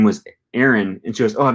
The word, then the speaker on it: Aaron: My own name is Aaron. I pronounce it exactly identical to. So my name is Aaron. I pronounce it identically to Erin. To me, those names are homophonous, right? They sound the same.